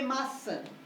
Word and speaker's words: maçã: Eu vou escrever maçã. Lembre-se que a sílaba tônica, sã, tem que ser o início do compasso.